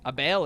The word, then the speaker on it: Abel: Duke Luca Abel. Abel is how you say his name.